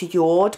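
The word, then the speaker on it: Jord: watch it was called I think it's pronounced yacht but I spell J Ord and it was a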